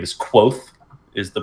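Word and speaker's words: Kvothe: around the legendary exploits of his name is quoth is the pronunciation there's a random V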